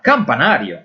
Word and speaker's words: campanario: Por exemplo, a palabra campanario está formada pelas sílabas cam, pa, na y rio. Son 4 sílabas. Y es una palabra que tiene a sílaba forte en la NA. Por tanto, es una palabra llana.